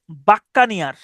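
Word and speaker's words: buccaneer: এটার উচ্চারণ হচ্ছে বাক্কানিয়ার।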